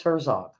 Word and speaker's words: Herzog: wh um wh horig I'm probably pronouncing his name wrong her Herzog Herzog I think it's Herzog the president it's up